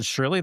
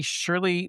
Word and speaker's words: Shurly: It's called Shurly, that's spelled Shurly, Surely and you're is not serious.